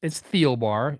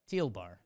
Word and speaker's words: Thielbar: Like it's Thielbar. You always say it like the color teal and like go to the bar. Just give him a Thiel. Yeah. Okay. Thielen. Fine. Thielbar.